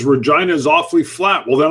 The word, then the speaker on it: Regina: I would love to get up to Regina. Rhymes with a female body part.